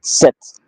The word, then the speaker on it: sept: In French, you pronounce it sept. S-E-P-T, sept. You don't say sept, you say sept in French.